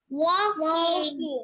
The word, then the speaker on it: walking: Walking. Yes. Remember, the L is silent.